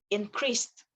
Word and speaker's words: increased: You end it with the T sound. So instead of increase it, increased.